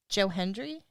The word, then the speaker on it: Joe Hendry: But instead, we got Joe Hendry.